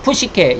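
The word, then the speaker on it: ψυχή: 이 헬라어로는 푸시케, 여기 꼭 여기 삼지창까지 되어 있는 게 있죠. 이게 헬라어입니다. 푸시케라고 읽습니다.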